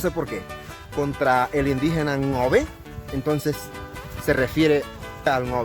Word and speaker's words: Ngäbe: la radio etcétera etcétera cuando dicen la población nave la palabra nave no existe no significa nada lo correcto sería pronunciar 99 no sé qué cuesta tanto pronunciar la palabra no ve que es como nos llamamos nosotros a pronunciar